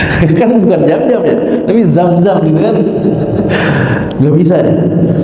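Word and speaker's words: Zamzam: Kan bukan jam-jam ya, tapi zam-zam gitu kan. Gak bisa ya. Saya akalin lagi apa, akhirnya dapatlah tuh satu. Coba Pak, tadi minuman juga jam-jam, harusnya zam-zam.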